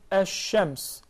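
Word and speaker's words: الشمس: Similar to the lam in the word ash-shams. We write it down alif lam sheen mim sin. But we pronounce it as alif sheen mim sin. Ash-shams.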